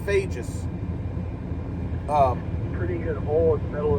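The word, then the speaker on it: Fejes: Clare FaZe y'all um it's actually pronounced fages um pretty good hole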